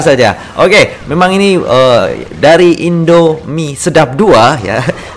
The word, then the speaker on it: Indomie Sedap 2: Oke, memang ini dari Indomie Sedap 2 ya. Harus dipatah-patah bacanya ya, jangan langsung seret ya, nanti dikira ada apakah gitu ya.